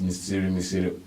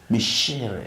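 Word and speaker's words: Micere: And the funny thing is that I've been pronouncing that name as Misiri until today. Michere. So it's Michere.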